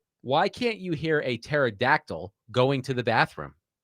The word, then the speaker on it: pterodactyl: Why can't you hear a pterodactyl going to the bathroom? Pterodactyl going to the bathroom. I can't fit in there. Because the P is silent.